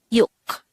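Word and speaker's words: 육: an all character next the signed korean version of number six is yuk again it's yolk just like numbers one to five of the sine korean numbers this is just composed of one syllable pronounce it with me you how do we spell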